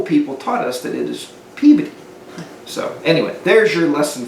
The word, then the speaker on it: Peabody: outside the bars outside Boston and it's not pronounced Peabody now it's spelled people like we would pronounce and yeah many people say that but the local people taught us that is Peabody so anyway there's your lesson for this video